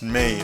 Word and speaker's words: mais: M-A-I-S is pronounced may, I guess.